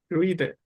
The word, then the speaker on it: हृदय: जब हम रा बोलते हैं हृदय। कई लोग हृदय बोलते हैं वो गलत है। री यानी जीव को थोड़ा ऊपर मोड़ना है हमें पीछे की ओर। हृदय रा की तरह नहीं है। इसमें वाइब्रेट नहीं होती जीवा।